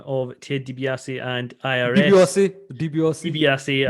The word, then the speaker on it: DiBiase: DiBiase, I'm going to keep saying. And actually on NXT, he's been referred to a few times, and the pronunciation is more like what I'm saying, so I'm going to stick with that.